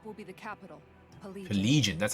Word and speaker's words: Pelegion: Pelegion, that's how you say it.